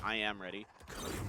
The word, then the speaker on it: I Am Ready: That's how you actually pronounce that name. I Am Ready is I Ready. It's not just I Ready. It's actually I Am Ready. I'm ready, I suppose, if you want to use the contraction.